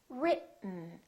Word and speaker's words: written: directly to the n this e kind of disappears it's not pronounced so it's basically the t and the n that are next to each other written keep your tongue up don't release it let the air just come out through your nose for the n sound listen written let's try another word